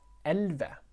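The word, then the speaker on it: elleve: let's take a look here so we had elve tall you see here like that the v is kind of you don't pronounce the v here so ok 15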